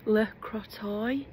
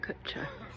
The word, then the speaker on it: Le Crotoy: Last night we stayed in a air at La Crotcher or L Crotcher. Um if you look on the map it's pronounced L Crotoy. Um, but the locals actually call it Kutcha.